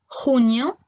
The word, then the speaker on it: junio: Alors ensuite, nous avons le J et le G devant un E ou un I. Ils vont se prononcer comme un R en français, mais un petit peu plus dur.